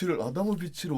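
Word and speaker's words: Adamović: 닥터 물라든이라고 읽어야 될까요? 물라든 아드모비치라는 분의 오, 아다모비치를 어떻게 읽었지?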